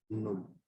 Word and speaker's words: null: तो जीरो को German language में कहा जाता है नुल, इसकी स्पेलिंग है NULL, नुल। और इसको प्रोनाउंस ऐसे ही करेंगे हम, नुल।